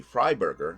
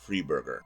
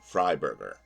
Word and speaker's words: Freiberger: I'm also informed that I'm pronouncing the name wrong it's supposed to be fry Burger not free bger I have never heard